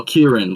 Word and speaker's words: Kirin: Oh, Kirin, like Kirin.